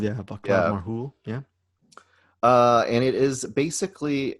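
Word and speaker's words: Václav Marhoul: Vadab Marhul. Vaclav Marhul. Yeah, Vaclav Marhul.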